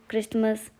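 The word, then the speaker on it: Christmas: Listen, will, क्रिसमस, often. तो यहां पे सब जगह क्या है? साइलेंट है। टी साइलेंट है। क्रिसमस में टी साइलेंट है।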